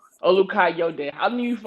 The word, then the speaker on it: Olukayode: your last name u u ukai de I've knew you for like how long now